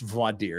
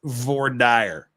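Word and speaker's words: voir dire: as an expert uh and it's it's not pronounced Vader it's V dire and that's a ask anyone ask anyone from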